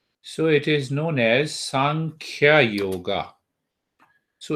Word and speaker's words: Sankhya: it is known as sankhya yoga so it is made up of two syllables you see there are two syllable one is sum and other is kya sum means equal right